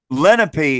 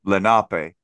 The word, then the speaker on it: Lenape: pronunciation well well um lenpy is how it's pronounced in English and then Lenape is the pronunciation in the language itself just like you know